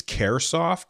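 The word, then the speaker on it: Kairosoft: I think it's Caresoft. It's Kairsoft.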